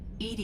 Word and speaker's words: EDI: is a jar why are you named Ed Ed is the phonetic pronunciation of Ed I that is an acronym